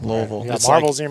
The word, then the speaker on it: Louisville: Louisville it's actually um how do you say that word town again Louisville Louisville it's like you got marbles in your mouth absolutely it's not Louisville I love poking fun